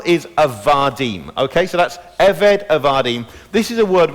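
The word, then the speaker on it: עבד: in the middle, and it's pronounced eved, and it can be written now either as ebed or eved, with a little apostrophe.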